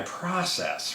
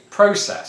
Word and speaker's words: process: then talk about my process right because that's how americans say it but here not here back in england where i'm from um here in my voice box i say process so i start at